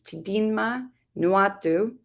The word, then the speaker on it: Chidinma Nwatu: And for this, we have Chidinma Nwatsu, I'm mispronouncing the name. It's Chidinma Nwatu, who created the microblog.